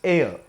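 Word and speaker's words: heir: i said h hcir h is not pronounced this word is pronounced as air air air the first sound is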